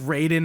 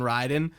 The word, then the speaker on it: Raiden: and I wouldn't shrug it's kind of like Raiden and Ryden like in MK it's it's Raiden in Mortal Kombat but like the character in Metal Gear Solid it's Ryden right um but I feel like with Raiden from MK especially I hear both and that makes sense